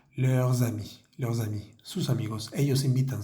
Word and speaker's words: leurs amis: Tenemos que hacer nuevamente nuestra conexión pronunciando la S de leurs y la siguiente palabra comienza por A. Entonces vamos a decir leurs amis, sus amigos.